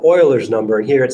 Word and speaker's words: Euler: worksheet so E is sometimes called Euler's number Euler was a math guy from a long time ago it looks like Euler but it's pronounced Euler and it's approximately 2.718